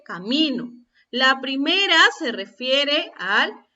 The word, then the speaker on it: camino: La primera dice caminó, la segunda dice camino.